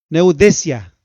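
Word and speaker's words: νουθεσία: Neudesia, así se pronuncia, neudesia, que significa un llamado de atención o reprensión seria.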